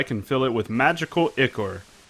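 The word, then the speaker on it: ichor: fill it with magical icor that's pronounced i-core oh i guess i should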